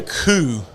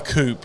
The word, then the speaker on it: coup: that would be a coup you BL not a coupe the the p is silent so for those keeping